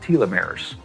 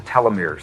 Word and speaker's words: telomeres: of DNA that are called telomeres or telomeres they're pronounced both ways they become riddle as